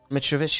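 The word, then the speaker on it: Mitrović: Mitrovic, was it? I said it right. Mitrovic is correct, hold on.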